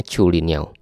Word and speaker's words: Zhulinniao: Tulisannya Zulinhao ya, tapi setahu saya ini bacanya Chulinhao.